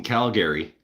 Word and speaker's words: Calgary: Well, and there's some dispute also between Calgary and Calgary. Calgary Calgary. If you pronounce it Calgary, get the fuck out of my house.